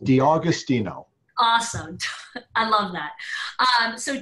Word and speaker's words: D'Agostino: you pronounce it well think of August D Agostino awesome I love that